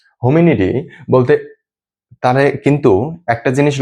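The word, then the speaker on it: Homo: তো গণ বা জেনাস, আমি যদি এবার গণ বা জেনাসের কথা বলি, তাহলে এটা হচ্ছে হোমো, উচ্চারণটা হয় হোমো।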